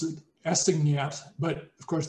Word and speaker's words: assignat: And I would pronounce it assignat, but of course the French don't pronounce the final consonant, so it's an assignat or something like that.